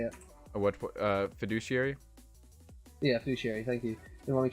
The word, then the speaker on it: fiduciary: I don't know how to say it what fiduciary yeah thank you you only trust especially with